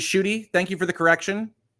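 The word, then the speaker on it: Ncuti: watching it in English you pronounce it as shooty thank you for the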